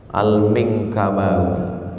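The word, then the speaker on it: Al-Minangkabawi: Gimana cara membacanya? Al-Minkabawi.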